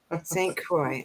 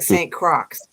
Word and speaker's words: St Croix: to pronounce it but it's the Saint Croix right St Croix it looks like Saint Crocs yeah Harry Potter and